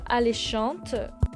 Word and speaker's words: alléchantes: Les odeurs alléchantes. So alléchant is an adjective. So les odeurs feminine plural. So I hope you put it again in plural. Alléchante, es, even though the s is silent.